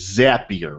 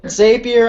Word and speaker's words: Zapier: way to pronounce is zapier right correct zapier makes you happier is the trick I've heard ever Xavier I've heard zappy a I've heard every new